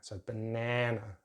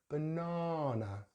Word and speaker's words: banana: at the end, but they use a slightly different short vowel sound in the middle. It's like nan, so banana. But we're going to use the long vowel sound R for British. Banana.